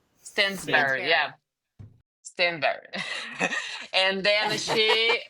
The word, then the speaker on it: Stansbury: her last name I don't know how to pronounce I stand Stansbury Stansbury yeah.